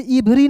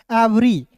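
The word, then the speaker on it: every: तो इसे इवरी नहीं पढ़ना है दोस्तों। इसे पढ़ेंगे एवरी। क्या पढ़ेंगे दोस्तों? इसे पढ़ेंगे एवरी। ई का उच्चारण ए के रूप में वी ई आर Y worry.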